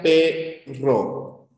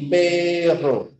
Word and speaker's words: perro: ya en la palabra si yo digo por ejemplo pero frente a perro ya date cuenta la diferencia por favor entre la r Pero y perro pero perro pero perro ya se en cuenta obviamente